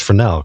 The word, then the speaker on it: Fresnel: spelled fresnel but pronounced frel because it's French and fruu it's named